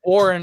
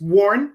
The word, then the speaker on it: Warn: but anyway i'd well i hear warren all the time i just got the new i warren wench i know warren yeah it's a um it's it's worn w-a-r-n one syllable and uh our products